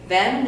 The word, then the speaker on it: Vanaman: Vanaman is only tricky until you hear how it's spelled. V as in Victor, A-N as in Nancy, A-M as in Mark, A-N as in Nancy. Van-a-man.